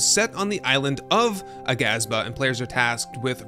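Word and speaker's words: Aghasba: an eye on the altars in towers of a gasba and yes that's how you pronounce that word dreamlet games invites players to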